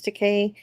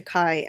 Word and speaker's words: Takei: else we were talking about before was the pronunciation of George Teay's name. It is Teay like Okay. Yeah. Um, but we were also talking about uh how Gene Rodenberry also called him Tai at at first.